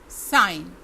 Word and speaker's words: sign: sign, sign, इसमें G साइलेंट है।